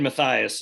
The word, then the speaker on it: Mathias: Mathias is the correct pronunciation of my name.